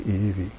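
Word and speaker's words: ʻiʻiwi: long beak called the Eevee iiwi is it the V the W gets pronounced to V in Hawaiian so it's this beautiful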